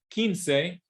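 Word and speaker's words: quince: right and down here Keen say whenever you see the q u i okay it's a silent U it's Ki kin say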